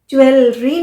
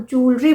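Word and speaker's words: jewellery: pronounce ए joule joule इसीलिए तो ज्वेलरी नहीं बोलते हम जूलरी बोलते हैं यह वर्ड तो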